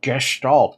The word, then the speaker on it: Gestalt: rescue Plan called project Gestalt Gestalt that's how you pronounce it yes there's salt do